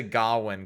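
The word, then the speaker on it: Gawain: the name of I'm going to say gowin cuz that's how they say it in in the Green Knight and I like that movie so if you say that Ace you're saying it wrong scne you're not entirely wrong I'm just saying it funnily on purpose cuz I think it sounds cooler and possibly more Old English but it might not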